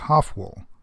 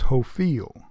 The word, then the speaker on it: Hofwyl: pronunciation of the word here it is pronounced as hovel in Switzerland it is now pronounced as hoe feel it isn't known how